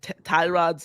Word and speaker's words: Tyrod: By the way, I feel so I think I've been pronouncing Tyrod's name incorrectly all along. Apparently it's pronounced Tyrod. Yeah, as Tyrod. Baker said.